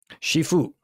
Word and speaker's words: Shifu: the only problem is in the west it sounds too much like seafood I think people could